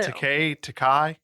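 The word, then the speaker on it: Takei: Takai.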